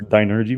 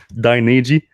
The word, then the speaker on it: Dynegy: I thought it was Dynergy, but that would have made more sense. Dynegy.